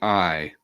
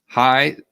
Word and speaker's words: Hai: Is it Hai? It's Hai. Hi. Thank you.